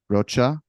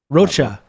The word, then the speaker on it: Rocha: sounding silly it's uh it's not actually Spanish it's Portuguese okay all right good